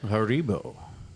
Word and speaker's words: Haribo: go it is a German yeah German company Haribo say it again say it again say it